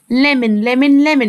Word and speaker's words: ليمون: وهقولها تاني عشان منطقوها غلط. ليمون. والاو يا ميس منطقها نطق خفيف خالص.